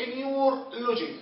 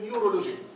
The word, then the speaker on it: نيورولوجي: لو انا قلت انيور لوجي، لاحظوا في صعوبه في عمليه النطق. انيور لوجي انيور لوجي، لكن لو رحت ضفت الاو اللي هي الفاول صارت المصطلح الطبي كله ميديكال، الميديكال تيرم كله او المصطلح الطبي كله نيورولوجي. مين اسهل ابو انيور لوجي ولا ام انيورولوجي؟ النيورولوجي اكيد النيورولوجي اسهل من النيورولوجي.